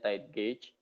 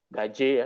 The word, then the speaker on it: tide gauge: Anda kalau mungkin bingung bacanya gimana, bacanya tide gauge, bukan GG atau gaje ya, ini tide gauge.